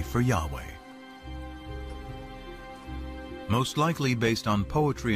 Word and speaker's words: Yahweh: According to one account, Abraham knew God by his intimate personal name, conventionally pronounced Yahweh. Passages with the name Yahweh, which in German is spelled with a J, scholars refer to as J.